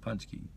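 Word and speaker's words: pączki: Punch key. Okay. Punch key. Punch key. I see it's pronounced punchki.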